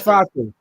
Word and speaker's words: Fatu: It's Fatu.